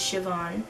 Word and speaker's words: Siobhan: by Siobhan Vivien and or say Bahan if that's how you pronounce it but I know it's Siobhan this is probably the